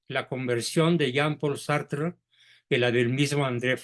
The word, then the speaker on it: Sartre: Paul sart sartre y se pronuncia sartr porque el francés se come la e final sí Entonces corrígelo por